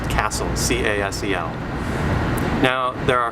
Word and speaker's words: CASEL: And this is coming out of the Collaboration for Academic and Social Learning, which is pronounced CASEL, C-A-S-E-L.